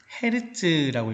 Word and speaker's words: 헤르츠: Hg로 나타내고 뭐라고 읽냐면은 헤르츠라고 읽으면 돼.